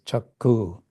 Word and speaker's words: chakshu: So in Bengali, this chakshu would be pronounced as chakku, like C-A-K-K-U, chakku-dān.